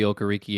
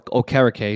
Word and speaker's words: Okereke: any team outside of Bobby Okereke again, or Okereke, excuse me for my mispronunciation.